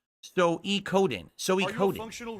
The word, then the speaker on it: Suikoden: I'm being told it's pronounced Suikoden.